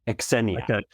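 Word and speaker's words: Xenia: Exennena. Yeah. Almost like a KS at the at the front of that. Okay. Exenena.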